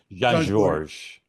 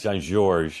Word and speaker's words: Jean Georges: from my house and the S is silent. Okay, sorry. Jean Georges. Yes. Jean Georges.